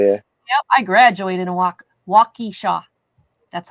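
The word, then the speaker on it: Waukesha: I graduated a walkishaw. That's how you pronounce that.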